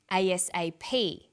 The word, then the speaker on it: ASAP: read-only memory notice that each letter in the abbreviation is pronounced separately but the last letter is pronounced more strongly because it carries the primary stress so we say usa asap abc and tv listen